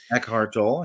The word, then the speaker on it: Eckhart Tolle: Eckhart Tolle, yeah.